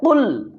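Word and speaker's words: قل: কুল কুল এখানে কুল বললে হবে না বলতে হবে কুল কুল আউজু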